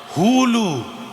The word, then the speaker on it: হুলু: করলেন এটাকে কি বলে উলু নয় হুলু উচ্চারণটা হবে হু লু হ্যাঁ যেমন এটা শিক্ষার